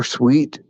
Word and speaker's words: Sweat: the guy for the nose tackle from Texas sweat so sweet it's pronounced he weighs like three 350 oh talking